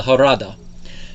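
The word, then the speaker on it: Jarada: never see called the harada and in case anyone's wondering that species name is spelled with a j but it's pronounced in the spanish fashion the j for h sound and the harada are really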